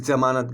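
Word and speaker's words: ज़मानत: ये जमानत हो गया, लेकिन जब वहीं पर जमानत के नीचे आप लगा देंगे नुक्ता तो ये जमानत हो जाएगा। इसका उच्चारण जमानत गले से करेंगे, जमानत, जमानत, ठीक है।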